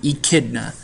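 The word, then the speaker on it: echidna: spiny ante eaters or e kidas so you pronounce this word idna and these animals are only found in Australia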